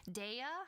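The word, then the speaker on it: Dehya: from gentian Impact um Daya I think is is how you say her name the character it's one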